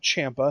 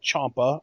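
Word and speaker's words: Ciampa: yes ladies and gentlemen that is how you pronounce it Gargano and Champa Nar Gargano and Champa it's actually hard for me to say uh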